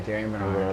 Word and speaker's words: Darien Bernard: Yeah, Darien Bernard.